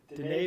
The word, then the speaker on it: Denis: Dennis Villanuv. D Villanu. Oh, it's D. It's D. He's French.